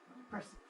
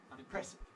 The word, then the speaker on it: unimpressive: marked it single stress un impressive but it's not unimpressive it's unimpressive it's got two stresses it's got to have